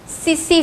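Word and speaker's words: tsetse: जिसका नाम होता है सी सी फ्लाइट ऐसे उसकी स्पेलिंग होती है से लेकिन ट साइलेंट है तो वैसे क्या होगा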